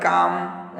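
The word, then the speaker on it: calm: उसके बाद काम, एल साइलेंट है।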